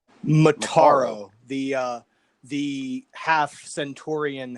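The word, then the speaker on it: Motaro: other two generals more motoroles that how you pronounce it motorola mataro the uh the half centurion half human and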